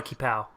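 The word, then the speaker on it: qipao: The dress was like it's called a kiapo or chipao. I don't know how you're supposed to pronounce it. I think it's called a kipao. Kipao.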